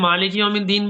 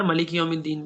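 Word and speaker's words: مالك يوم الدين: دیکھیے مالک یوم الدین بھی ہے اور ملک یوم الدین بھی ہے، جی دونوں طرح آپ صلی اللہ علیہ وسلم نے پڑھ کے بتایا ہے.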